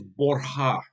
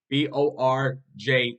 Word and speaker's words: Borja: Now, the actual pronunciation of the Borgia family name in Spanish is Borja, Borja. Borja. The J is silent.